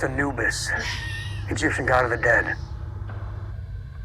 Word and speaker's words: Anubis: It's pronounced Anubis, Egyptian god of the dead.